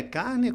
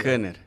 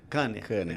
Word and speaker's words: Kanner: O teu sobrenome é Carne? Como se pronuncia? Kanner. Kanner.